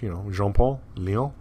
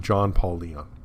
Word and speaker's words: Jean-Paul Leon: And I thought he was French. Jean-Paul Leon. But nope, completely American, and very American pronunciation of the name, John Paulion.